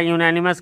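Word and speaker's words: unanimous: हाँ देखिए, अब यहाँ यूनैनिमस के साथ डिसीजन आ गया तो ए लगेगा, उच्चारण य से है।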